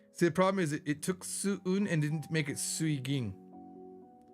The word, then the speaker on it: 수은: 하지만 온도계 안에 있는 수은 must be 수긴? Wait. 수이깅 is how you say mercury. Sorry. 수은.